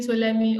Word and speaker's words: Ptolemy: for looking we are considering Ptolemy or Alexander the DP is not pronounced so it's kind of